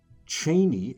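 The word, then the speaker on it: Chani: Cheney. Yes, that's how Frank Herbert pronounced it. Once you hear it, you can't unhear it.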